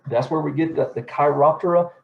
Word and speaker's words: Chiroptera: So that's where we get the chiroptera. Some people will pronounce it chiroptera. I'm just going to stick with chiroptera just because I like to say it that way.